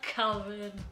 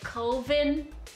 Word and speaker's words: coven: It's like an oven with a C. A coven. I was pronouncing it coven before.